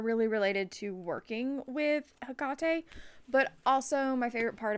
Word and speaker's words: Hekate: Um, I've heard people say Hecate. Some people spell it differently with a C instead of a K. Um, for personal reasons, um, that I will one day discuss on actual public platforms. Um, I call her Hekate with the K, with